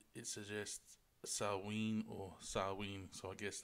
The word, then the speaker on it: Samhain: of ancient Ireland known as Samhain but properly pronounced it suggests a salween or salween so I guess that's how Halloween